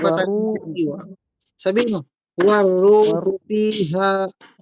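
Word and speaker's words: وَالرُّوحُ: waruhu fiha Tinanggal mo ang sadda dito. War at saka ru. War. Hindi waru. Sandali, makinig ka muna. Yung nabibigkas mo ay waru. Natanggal ang sada. Ganito. Doble yung bibigasin. War. Dagdagan mo ng ru.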